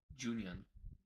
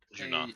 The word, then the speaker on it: Junon: And there's a NPC or location called Larboard Junion. Junion? Can I get Junon.